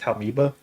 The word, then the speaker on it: Taumoeba: How it's pronounced? Taumoeba.